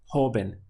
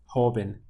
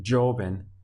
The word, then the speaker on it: joven: To say young in Spanish would be joven, joven. Make sure you're not pronouncing it joven, because this J-O has a H sound, joven in Spanish.